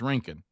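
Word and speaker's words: Rincon: Now, the one that helps me is rinking. Like a like a skating rink.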